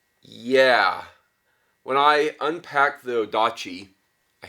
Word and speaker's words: odachi: big box um yeah when I unpack the odachi I said it right this time guys uh